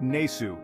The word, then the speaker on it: nsw: over time for example the ancient Egyptian word for King written as nsw in hieroglyphs is pronounced nesu in reconstructed ancient Egyptian in Coptic the word